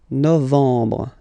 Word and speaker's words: novembre: Okay, E-M en novembre, novembre.